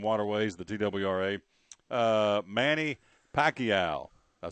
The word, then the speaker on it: Pacquiao: the woods and waterways the tww uh Manny Pacquiao I say it right you did and Floyd